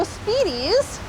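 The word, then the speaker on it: SPDES: our watershed system so speedies that's how we pronounce this word speedys is the state pollutant discharge elimination system and this is part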